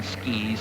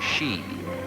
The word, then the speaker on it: ski: a piece of wood it is pronounced either ski or she but the former pronunciation seems to be the more common in America this zigzagging that Pete's